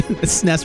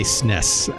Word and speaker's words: SNES: Yes, I say SNES as all one. It's one syllable, right?